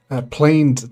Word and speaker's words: planed: is going to start producing planed timber. I think I'm finally pronouncing that right. On the fourth city on this channel. So we got some planed timber, and I've been pronouncing it planned for the last god knows how many years.